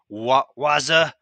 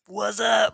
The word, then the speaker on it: Wazuh: security stuff, specifically using Wazuh, which it's really tempting not to go Wazuh like the obnoxious commercials. So I'm going to try not to do that. I think it's just pronounced Wazuh, and talk about using